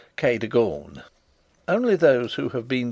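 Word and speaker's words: Cadogan: housekeeper was called Kagan a name made locally possible by being pronounced K deor only those who have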